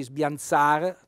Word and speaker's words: sbiansar: è un infinito quindi sbiansar l'accento tonico sulla a vuol dire bagnare leggermente